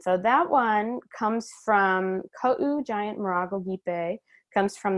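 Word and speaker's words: Kaʻū: Oh, pronounce that at all. That's Kau Giant Marago Gipe.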